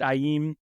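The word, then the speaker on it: Aiim: with am am amim that's spelled a IIM pronounced aim and that's what I'm looking forward to now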